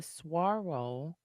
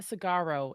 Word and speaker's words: Saguaro: It's not Sagaro, it's Saguaro because that's what it looks like. But it does look like Sugaru.